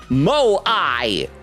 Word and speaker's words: Moai: Fruzy said, I believe it's pronounced Moai, but not to be confused with Moe, the Japanese genre, if you want to call it that.